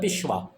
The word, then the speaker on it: पेशवा: Number one we have the पिशवा। ये जो पिशवा इसको पिशवा नहीं कहना। You will pronounce it पिशवा।